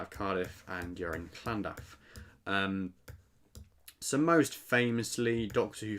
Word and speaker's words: Llandaff: So Llandaff, I think that's how you say it, Llandaff, with a bit of sort of ha to the double L's.